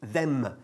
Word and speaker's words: them: gustaría hacer hincapié en la importancia de cerrar bien la boca cuando dices palabras que acaban en M. Por ejemplo, them, una palabra que todo el mundo conoce, pero que casi nadie pronuncia bien, por lo menos en este país. Bien, have them. Es como si tuviese una pequeña E después. Have them, no es them or them, it's them.